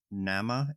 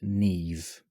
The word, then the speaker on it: Niamh: It covers a person by the name of Nama, Niamh. I'm totally butchering the pronunciation. I'm aware. Oh, I But don't know it's- what in other countries, but in the UK and Ireland, that would be pronounced Neve.